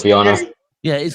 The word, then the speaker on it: Viana: Let's pronounce that right. Viana. Yeah, it is Viana.